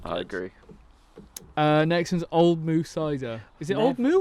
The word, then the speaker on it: Old Mout: Oh yeah, Old Moo. it's What moo. is it? Moo. Quench Old the moo. thirst. Oh, Do you pronounce the T? Oh no. Yeah. Old Moo.